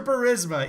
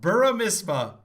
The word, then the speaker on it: Burisma: That's your Burisma, EJ. Your guy calls it Buramisma. Buramisma, they pronounce it. No, they don't.